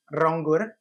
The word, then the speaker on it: Ronggur: And Rangur, but I'm kind of helping you guys out. It's wrong dot gr. So, you know when the when you know it's two syllables.